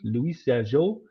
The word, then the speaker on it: Louis Jadot: And that's Louis J. Dot, the French pronunciation, Louis Jadot, and Mary Taylor.